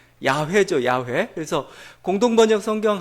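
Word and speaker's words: יהוה: 이 제복을 해가지고 아 여호와 다 이렇게 했는데 사실은 정확한 발음은 아닙니다 정확한 발음은 야외 저야 외에 그래서 공동번역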